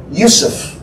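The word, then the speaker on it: Yosef: Joseph really wasn't Joseph. He was Yusuf.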